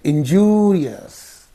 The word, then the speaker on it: injurious: say industrious industrious right so injurious is there the the suffix is in these two syllables so the preceding the syllable preceding the suffix is Du so we have to say injurious injurious so similarly laborious is